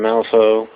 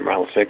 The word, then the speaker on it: Malifaux: Game mechanics aren't too far off from Malifaux, or Malifix, or however you want to pronounce it.